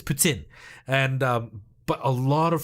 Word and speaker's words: poutine: same with like poutine everybody in the world says poutine but it's putin i think don't don't don't kill me supa patooka if i said it wrong but i think it's putin and but a lot